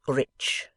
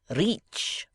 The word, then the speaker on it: rich: 'Our English adverbs do not terminate in mong, and we pronounce the ch as if there were a t before it. We say rich.' 'Reach,' remarked the foreign gentleman.